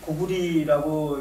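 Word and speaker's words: 高句麗: 중국어로 물론 고려를 까오리라고 해서 그게 리 발음으로 읽습니다만은 이거는 뭐 고대 음이 또 어땠는지는 알 수는 없고 아무튼 고리 고구리라고 읽는 것이 아마 저는 원음에 가깝지 않은가 저도 그렇게 생각을 합니다.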